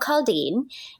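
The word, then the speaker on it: caldine: inspired my brand uh of sauces it's called caldeen and um it's spelled c-a-l-d-i-n-e and it's a portuguese-inspired dish now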